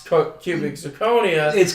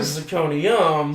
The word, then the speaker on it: cubic zirconia: And people mispronounce cubic zirconia and call it zirconium.